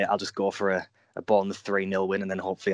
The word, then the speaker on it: Bournemouth: I quite like that pronunciation. It's Bournemouth. Bournemouth.